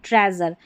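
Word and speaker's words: treasure: इन सभी स्पेलिंग में जो EA रहता है, इसको यहाँ पर हम A करके पढ़ते हैं, ठीक है। और EA का उच्चारण बड़ी की जैसे भी होता है, लेकिन मेज़र, प्लेजर और ट्रेजर में हम A करके पढ़ रहे हैं।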